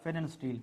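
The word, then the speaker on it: Pfannenstiel: के तौर पे देखिए, इसमें ये पी साइलेंट है, पी क्या है, साइलेंट है। तो ये मैंने क्या लिखा है, अगर पी साइलेंट हो जाए दैट इज कॉल्ड फेनन स्टील।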